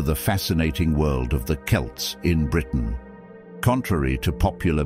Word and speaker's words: Celts: Celts historically and academically it's often pronounced with a hard C Sound Celts Celtic when referring to